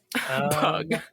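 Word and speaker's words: Pugh: Pew but El Elena are we pronouncing her last name right yes I looked it up that's unfortunate I guess though pug just P I mean I love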